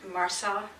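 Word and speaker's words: MRSA: You spell it M-R-S-A, Marsar, I guess it's called.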